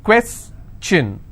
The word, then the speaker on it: question: information if i have the word question how many syllables two quests chin all right and i will stress here question clear so the rule